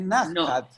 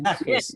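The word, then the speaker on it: נחת: No, es en hebreo, es Najat. Pero pronunciada en Yiddish es Najes.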